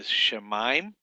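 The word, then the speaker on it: שָׁמַיִם: breaking them in syllables you got the shamim not shim it's not three syllables it's two syllables Sha Sha mime and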